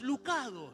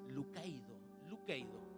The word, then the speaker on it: Lucado: Y dice, Max Lucado, le dice, ¿usted es Max Lucado? Y el tipo, sí, soy yo. Te cuento algo. Ese apellido no se pronunciaba así. Se llama Max Lucaido.